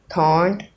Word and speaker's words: trente: आर होता है इसमें, ये जो टी आर मैंने डाला है ये थ की आवाज़ डालता है, थ, ना कि त्र। और इसकी प्रोनाउंसिएशन, इसकी जो आवाज़ निकलती है मैं वो बता देता हूँ। इसकी जो प्रोनाउंसिएशन निकलती है थॉन्ट की, ये है थॉन, थॉन्ट। ओके, ये है इसकी प्रोनाउंसिएशन। 30 को हम फ्रेंच में कहेंगे थॉन्ट।